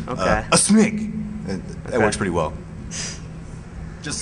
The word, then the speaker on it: aSmig: You could also say my name is a smig. Sort of like you're sneezing, you know, a smig.